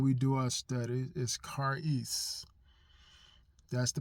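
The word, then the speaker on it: charis: the Greek when we do our studies is kis that's the pronunciation of it is spell c h a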